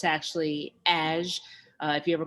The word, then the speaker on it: Haj: It looks like Haj, but it's actually Aj. If you ever call my voicemail, there's a little rap that goes with it. You have reached Aj, not Haj, not. It kind of rhymes with cash.